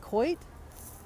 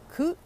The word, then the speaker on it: Coit: try and do that Coit coit is it quite coot what is that how you say it coot oh my god my long text let me text I know but how do you say it is it Coit i would assume it's Coit so guys this is